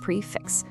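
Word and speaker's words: prix fixe: Prix-fixe. It's French, and you say it like prix-fixe.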